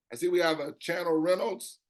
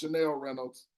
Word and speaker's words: Chanel Reynolds: So I see we have a Channel Reynolds. Okay? But if that's pronounced Chanel Reynolds, please forgive me. Okay. She's smiling at me, so I must have said it wrong the first time.